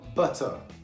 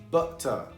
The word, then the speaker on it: butter: O britânico, ele tem duas maneiras de pronunciar. Um que é carregado com T, que é o RP English, que ele pronuncia perfeitamente, eles gostam de pronunciar o T. E o Cockney Accent, que eles não pronunciam o T, eles jogam o T fora.